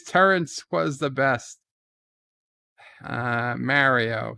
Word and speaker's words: Mario: track says mario mario i understand that nintendo mispronounces his name but the fact that they mispronounce his name does not change the fact that the name is correctly pronounced mario tiki of doom welcome